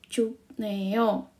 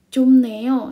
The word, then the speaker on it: 춥네요: B ketemu N. Itu bacanya adalah M.